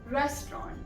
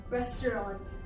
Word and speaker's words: restaurant: In British English and in American English, you say it as restaurant. Restaurant. So in American English, it's pronounced the way it's spelled, whereas in British English, it's more of a combination.